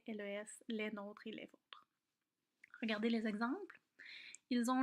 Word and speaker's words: vôtre: était terminée un passé si vous voyez un accent circonflexe ça change la prononciation le haut devient ferme et donc c'est le nôtre est pas la nôtre notre est le vôtre et les équivalents au